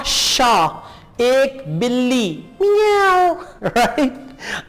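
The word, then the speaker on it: chat: मोस्यो क्लेमो, आ शा एक बिल्ली, मियाओ, राइट, आ शा एक बिल्ली, टी साइलेंट है यहां पे, शा शा, जैसे आप कहते हैं ना चा, इसी तरह आप कहेंगे शा, आशा एक बिल्ली।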